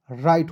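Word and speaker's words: right: चलिए, अब देखिएगा RIGST तो आर का र हो जाएगा ना जी, और IGST का उच्चारण दोस्तों आइट के रूप में करते हैं, तो क्या हो जाएगा, राइट, RIGST राइट हो जाएगा, ठीक है।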